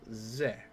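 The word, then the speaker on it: ぜ: Okay, now ze, as in zed. You pronounce this as ze, or write se, or as you would as normal, then add your dakuten to change it to ze.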